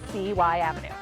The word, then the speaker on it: CY Avenue: For those of us that live here, we know it as CY Avenue.